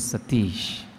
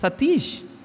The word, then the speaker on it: Sateesh: and told no Swami my name is Satish Satish Swami had asked in such a tone that your name should be satyanarayana and how do you say that it's Satish I told Swami no